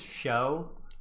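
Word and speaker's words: Chaud: the by the way his name is show but it's spelt like chad and this is his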